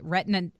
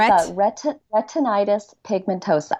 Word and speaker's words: retinitis pigmentosa: diagnosis of Retton and I want to make sure I'm saying it right retina retina night it retinitis you are so close I know it's tricky you're retinitis pigmentosa retinitis pigmentosa okay RP I'm just